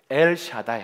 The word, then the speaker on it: 엘 샤다이: 달 없어 전능한 하나님 이걸 히브리어로 발음해 보면 야 이런 거예요 엘 샤다이 1 따라서 엘 샤다이